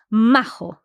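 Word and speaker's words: majo: okay so this one Mark's favorite word is mAh yeah M it just means nice a decent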